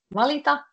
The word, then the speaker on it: valita: Valita, just cut it short, the last R, and when it's valittaa, you say it a bit longer and try to pronounce T. Yeah, valittaa, like you're trying to say the T as a double and R as a double.